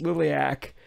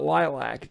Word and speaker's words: Liliac: weeks since I uh did my reaction to lilc I now know that the band's name is pronounced lilc and not lilac geez what was I thinking um you all